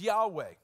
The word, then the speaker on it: Yahweh: I am comes from four Hebrew consonants which we pronounce as Yahweh it's literally it's it's